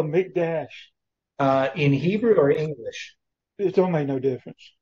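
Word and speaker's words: מקדש: Mikdash. Sometimes it has a dot in the Kof, which means you have Mikdash. Sometimes pronounced that way.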